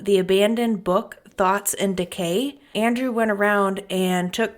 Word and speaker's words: Thoughts X Decay: book thoughts and Decay it's spelled thoughts X Decay but it's thoughts and Decay and pick up a